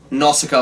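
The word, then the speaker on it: Nausicaä: of the wind and if we pronounce it like they do in the movie now Scott now stop up the valley other ways yeah it's how he says that in Japanese okay that's outcome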